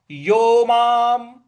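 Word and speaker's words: योमां: छह का योमाम योमाम देखिए य पर ओ की मात्रा और म पर आ की मात्रा और ऊपर जो अनुस्वार है उसका उसका म ही उच्चारण ले आना है तो ये हो जाएगा योमाम पश्यति पश्यति यहां जो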